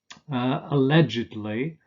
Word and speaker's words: allegedly: few exceptions and the the same applies to adverbs derived from adjectives like alleged and marked these are pronounced allegedly and markedly sir if the main stress falls on the syllable that precedes the EDL why ending we say Italy allegedly markedly confessedly deservedly supposedly fixedly advisedly but with different stress